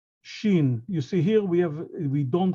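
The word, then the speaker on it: שין: Again, it's not S and it's not SH, it's Shin, Sdera.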